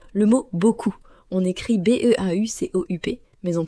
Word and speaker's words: beaucoup: Par exemple, le mot beaucoup, on écrit B E A U C O U P mais on prononce seulement beaucoup.